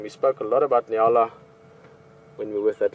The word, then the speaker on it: nyala: And this is a nyala.